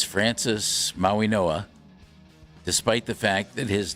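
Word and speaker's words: Mauigoa: the Miami Hurricanes, we learned officially how to pronounce their tackle's name, and it's Francis Maui Noah, despite the fact that his name is spelled M A U I G O A. Maui Noah.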